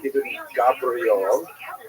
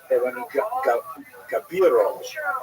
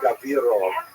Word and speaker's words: Ibn Gabirol: pointed out to me it's not Ibn Gabriel, it's Ibn Gabirol or Gavirol. I put the I in the wrong place.